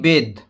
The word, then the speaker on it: bathe: Number 3, উই বেদ। দেখো উচ্চারণটা হবে বেদ, BATHE, বেদ মানে স্নান করা।